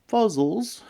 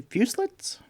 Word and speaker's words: fuselits: no no no no we're not called fuzzles it's actually fuselits some humans have been deliberately mispronouncing it probably because of our appearance I wouldn't use the